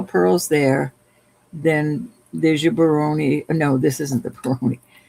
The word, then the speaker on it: Baroni: All right, so this bracelet is a Baroni Baroni, I believe I'm saying it right. It's all Baroni?